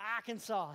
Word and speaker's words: Arkansas: in trouble uh it was hillbilly clinton from arkansas hillary and bill clinton 1992 are kansas that's